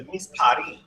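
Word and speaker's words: מספרים: Repeat how you say it in Hebrew and in plural. Misparim. Misparim. Misparim.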